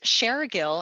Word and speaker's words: Shergill: last name is pronounced sharer Gill and I like to say share because I'm sharing information so share a girl